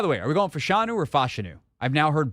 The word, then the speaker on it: Fashanu: any Gonzaga Intel onu it's Olu fashanu okay we're going fashanu then why didn't you correct